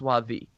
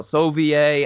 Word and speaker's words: Soavi: I only know from watching opera now that his name is pronounced Soavi. Right. Because I've heard... not to call out moods or anything, but he calls them Michel Sauvier. I've heard him Soavi, Souvier.